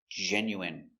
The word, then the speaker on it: genuine: So remember, the i n e is pronounced in. Genuine.